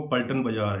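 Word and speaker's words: पलटन बाज़ार: और दूसरी बात जो उन्होंने बोला था कि एक दो प्रोनाउंसेंस थोड़ा सा गलत हो रहा था उनसे। एक्चुअल में वो पल्टन बाज़ार है जो देहरादून में है, वो दैट मार्केट नेम इज पल्टन बाज़ार।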